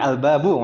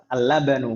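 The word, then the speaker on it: الباب: Jadi al-babu ya, bukan al-labanu. Kalau al-labanu lamnya ada lagi dan ada huruf nunnya.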